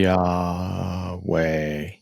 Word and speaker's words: Yahweh: Yahweh, and how like, if you say it really slow and you say like, and you break it up into 2 syllables, try it. Like, Yahweh. So it's Yah. Yeah. It's literally your breath.